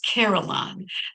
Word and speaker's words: carillon: The fanciest word I knew as a child was carillon, 3 syllables of embodied melody, and my mother would